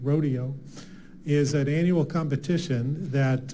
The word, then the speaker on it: Roadeo: and they this Rodeo it's spelled r o a Deo like road on the road rodo is an annual competition